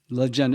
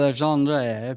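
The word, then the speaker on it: Legendre: Legender. Just think of Bill Legender. It's as American as you can get. Leg Legender. Legender instead of Leandre.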